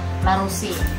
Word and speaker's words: La Roche: Kita bacanya La Roche.